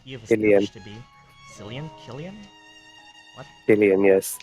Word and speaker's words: Killian: EST to be San Killian what yes it's Irish it's kilan okay as Killian and